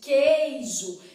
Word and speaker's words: queijo: o número de fonemas na palavra queijo eu quero saber se esse U é pronunciado Se fosse pronunciado eu falaria assim ó coeso eu iria ligeiramente dá uma enrugadinha no lado inferior Coelho Eu não falo coiso como boa mineira que sou e muito comedouro de queijo eu vou fazer esticadar só queijo não é isso Então significa que esse U não é pronunciado Então nesse caso aqui